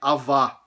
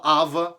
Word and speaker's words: avá: consta da nossa frase, que é avá, que é tipo não, não faça isso. é equivalente a meio que é o don't em inglês, tá? Mas mesmo assim tem uma versão que a pessoa fala ava, tem uma uma variante que que eles que eles falavam falariam ava e não avá.